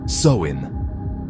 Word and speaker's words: Samhain: It was called Zamhine, pronounced Soin, the ancient Celtic festival